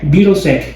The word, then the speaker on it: Birosek: Mas na verdade o verdadeiro sobrenome é Birosek. Né? Como é que é? Birosek. Birosek. Polonês.